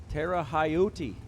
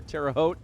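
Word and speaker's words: Terre Haute: Creek Collision 2000 Roadster Tera hotti as I've heard it mispronounced before terao been through there numerous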